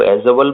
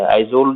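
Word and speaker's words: Aizawl: मिजोरम, मिजोरम की जो राजधानी है वो एजवल पड़ती है। आइजोल जिसको बोलते हैं लोग हिंदी में, आइजोल एजवल, तो आप समझ सकते हैं, स्पेलिंग आपके स्क्रीन पे है।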